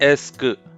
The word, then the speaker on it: est-ce que: इसका उच्चारण है एस्क, एस-के नहीं, ठीक है? अगर आप एस-के पढ़ें, लेकिन वह गलत है, 's' गलत है।